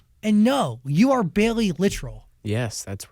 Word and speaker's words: Littrell: very proud literal yeah literal like literally is it really is